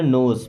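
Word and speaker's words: knows: हु नोज, who means होता है कौन, यहाँ पे के साइलेंट है ना, नोस मीन्स जानता है।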